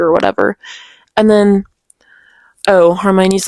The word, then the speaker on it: Hermione: new um brooms and then Harmon's like Hermione. I always pronounce her name wrong. I don't really know.